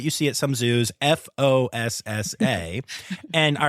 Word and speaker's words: fossa: So saying Foosa is not wrong, even though it looks wrong. So it's basically a dialect thing as to how you want to talk about the species. So Foosa is often also pronounced in the Malagasy way, just because of the